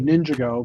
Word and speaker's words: Ninjago: Just wait to hear how he pronounces Ninjago. Ninjago. But it's actually Ninjago because that's how the theme song said it.